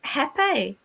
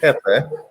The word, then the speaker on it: Jefe: Hepe.